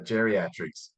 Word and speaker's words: GeriatRx: interesting company called GeriatRx, or you may call it geriatrics. I'll ask, how do you pronounce that correctly? Yeah, geriatrics. It's great.